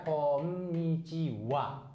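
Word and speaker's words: こんにちは: Kalau ini mah tolong langsung hafal saja konnichiwa ya, bukan H. Bukan H ya.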